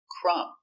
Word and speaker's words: crumb: hurt thumbs up example crumb remember no B sound crumb it's countable one crumb